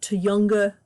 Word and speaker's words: Tujunga: the area of uh to younger to younger Canyon that's apparently how it is pronounced or close to how it's pronounced it's from an indigenous word um I say not